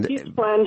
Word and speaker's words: Gippsland: Gippsland. Gippsland. Correct. That's how you say it. Or Gippsland, as a lot of the locals call it.